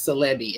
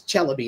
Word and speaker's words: Chelby: And then um Leah Chelby, who every when you see her name written, everybody says CBI, it's Chelby is how you pronounce it.